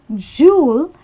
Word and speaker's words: jewel: So it's actually jewel, J-O-O-L is for the pronunciation, but do not ever spell it as this.